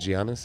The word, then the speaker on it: Giannis: it right H TMO Giannis is that right practicing yeah I think they pronounce it Giannis jannis Giannis yeah so he he's